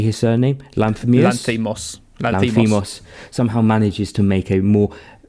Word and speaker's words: Lanthimos: Lanthimos.